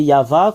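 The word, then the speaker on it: Yahvé: déjà enseigné cela que comment on prononce y c'est yava qu' le prononce en langue hébreu et nous avons vu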